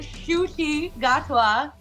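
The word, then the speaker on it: Ncuti Gatwa: to apologize to to shoi gatwa that is how you say his name so just throwing it out there in case anybody doesn't know yet cuz like it doesn't sound like it's it doesn't look like it sounds at all so um yes anyway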